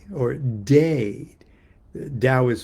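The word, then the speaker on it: Teh: The dao is one and the t or day. Dao is spelled t- ao and t or day is spelled t e h.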